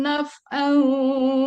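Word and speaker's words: نفعا: taf'an wala dorro bukan taf tapi naf ulang lagi deh dari la yamliku mana h baris yang kelima dari atas paling kiri la yamlikuna lianfusihim naf bukan taf ya tadi dibacanya taf'au itu soalnya bahas yang kelima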